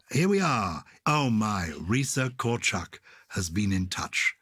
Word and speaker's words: Risa: Risa rhymes with Lisa and Gareth in Calgary, Canada.